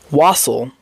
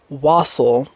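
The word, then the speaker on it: wassail: to say was was wasle like waffle but with with S's and it's not spelled like waffle cuz there's no e but it's pronounced like waffle bab what wasle it's spelled w a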